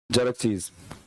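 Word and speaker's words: Xerxes: अंग्रेजी में तो केवल एक ही है। ज़ेरक्सेस, इसका उच्चारण इस प्रकार होता है।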